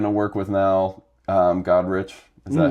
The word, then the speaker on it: Godrich: they we're going to work with now, um Godrich. Is that how you pronounce it? Nigel Godrich.